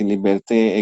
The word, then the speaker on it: liberté: Nah, kita sering dengar revolusi Prancis tadi memperkenalkan kepada kita ide-ide kebebasan seperti liberté, égalité, fraternité. Itu bacanya gimana sih, biar agak benar?